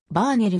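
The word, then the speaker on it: Verner: 生涯を終えたより正確な発音だとヴァーネルになる 1916 年のノーベル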